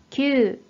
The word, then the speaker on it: 吸: 자, 이 한자 뜻으로는 す、す、 라고 발음해 주시고, 음으로는 きゅう、きゅう。